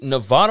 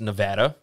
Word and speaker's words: Nevada: The Nevada Wolfpack. And some people say that you pronounce this Nevada, but we live in Mississippi, so we're going to say Nevada.